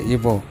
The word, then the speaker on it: Igbo: We should pronounce it as a Igbo. The spelling G is a silent.